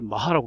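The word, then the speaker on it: Mach: 그 다음에 운동의 단위를 마하라고 합니다. 독일계 그 이름 마하라고 읽어서 마하라고 읽는 거죠.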